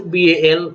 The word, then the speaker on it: BAL: british antilluside or bal pronounce it as bal or representing anti-leucide don't use the acronym as an word uh or dimer april